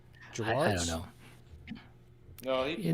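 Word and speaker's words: Gerads: Gerards? I don't know. No, he told me one time. I think it's Gerrard's. It's not like Gil Gerard, Buck Rogers. It's Gerrard's.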